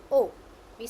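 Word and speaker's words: औ: The pronunciation of this is ow. Ow. How we say ow? Ow. Okay. For example, in English we say out, right? Ow, out. Got it?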